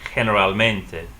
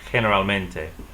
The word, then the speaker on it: generalmente: G in front of E and I, they'll sound like H. So for example, the word general or generally would be generalmente. Pronounce that, generalmente.